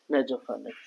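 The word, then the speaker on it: nasopharynx: Spelling अभी हम बताएंगे सब एन ए एफ ओ पी एच ए आर वाई एन एक्स नेजोफनेक्स नेजोफनेक्स फनेक्स का वो पार्ट होता है जहां पे हवा आती है।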